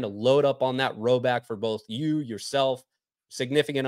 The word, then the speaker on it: Rhoback: If you guys haven't already, it's time to load up on that Roback for both you, yourself, significant others, your buddies, whoever it is.